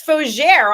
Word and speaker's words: Fougere: Her name is Reverend Foie. Let's welcome her to the program. She's also an author, and I said your name wrong. It's Fougere.